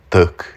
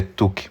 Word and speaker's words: Thuc: É assim que pronuncia o nome dele, tá? Não tu, né? Como se fosse anglicizado, como alguns fazem. Eh, é tuque mesmo, tá? No jeitinho que tá escrito.